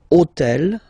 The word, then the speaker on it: hôtel: took on purpose this hôtel, okay, because it starts with H, but remember that in French we don't pronounce H. Okay, so basically the first sound of the word is the vowel O.